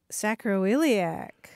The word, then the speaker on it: sacroiliac: It's five syllables. Sacroiliac.